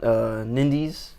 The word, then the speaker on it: Nindies: Lewis is going to talk about Nindies. Nindies. Is that how you say it? Yeah, Nindies. Nindies, and then I'm also going to talk a